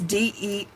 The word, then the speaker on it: Deichmann: I can't make out how to pronounce that. It's Deichmann.